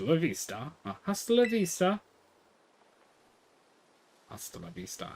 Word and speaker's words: Hasta la vista: Hasta la vista. I don't need to pronounce H so much.